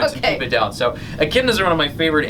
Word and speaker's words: echidna: But we're going to talk about this, now am I saying it right? Echidna? Echidna. Mm-hmm. Yeah, you got it.